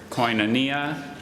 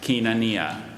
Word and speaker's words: koinonia: language of origin grief are there any alternate pronunciations there's Koinonia and Keenan Nia may have support of